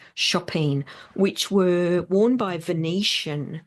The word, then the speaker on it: chopine: shoe called a shopping spelled chopene but but pronounced chopine which were worn by Venetian.